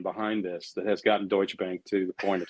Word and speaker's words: Deutsche Bank: if as sylvia says we pronounce the t dutch a bank deutsche bank okay so those smart